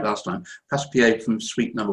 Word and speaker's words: Passepied: So after the I said it right last time, Passepied from Suite Number 1 by Bach, we now